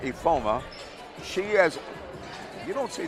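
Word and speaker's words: Ifeoma: But she has a 6-foot junior, Hazel, and it's spelled I-F-E-O-M-A, but it's pronounced Ifoma.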